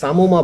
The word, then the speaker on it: psammoma: এটার একটা সুন্দর এক্সাম্পল হচ্ছে সামোমা বডি। বানানটা আপনারা একটু খেয়াল করবেন, PSAMMOMA, সামোমা।